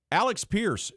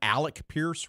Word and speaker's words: Alec Pierce: Alex Pierce, who you're higher on than I am, Alec Pierce, rather, sorry. I think it's that's how you say his name.